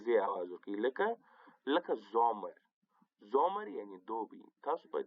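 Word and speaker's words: Sommer: لکه زومر. زومر یعنې دوبی. تاسو په دې لغات کې وګورئ، په دې اسم کې د اس مخته او راغلې ده، ځکه یې نو د زی آواز ورکړی دی.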